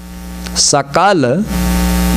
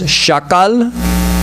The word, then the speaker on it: sakala: For instance, a simple word like sakal. Sakala means all, everything in Sanskrit. If someone pronounces it as shakal, it means a part of. Sa and sha, you have to be careful.